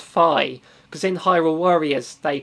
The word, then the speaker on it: Fi: us so quite bitter on that one um fee makes you think of fee from i think it's in skyward sword it's pronounced phi because in hyrule warriors they pronoun the narration